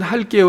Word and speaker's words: 할게요: 아 된소리로 넣으면 안되구요 읽을 때는 할게요 라고 된소리로 발음하지 만 쉽게는 예사 소리 기억으로 써야 됩니다 해서 엄마 제가 할게요